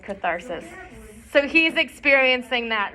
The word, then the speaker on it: catharsis: cool um concept so catharsis it's spelled like this anyone heard about that so arthritis yeah it kind of sounds like arthritis so catharsis is like